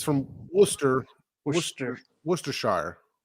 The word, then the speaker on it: Worcester: yeah because it's from worcester worcester worcestershire like warcester mass they call it worcester instead of worchester or woos now is it from